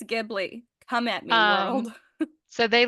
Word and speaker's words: Ghibli: way it's pronounced but I'm a fan of the hard G it's GI and it's gibli come at me so